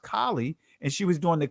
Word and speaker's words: Kali: Remember, Beyonce had a video out where she had Kali spelled with an E at the end, but it's still pronounced Kali.